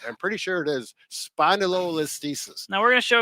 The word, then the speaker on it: spondylolisthesis: Spondylolisthesis, which I have, less than 5% of the